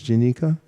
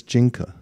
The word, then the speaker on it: Jinka: He said normally people think it's Jinika, but it's Jinka, pronounced Jinka. But I'm sure the other way isn't wrong either.